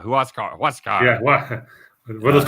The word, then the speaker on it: Huascar: it's uh you know no it's it's huascar oh that's right it's a who asks yeah who else car what's god yeah what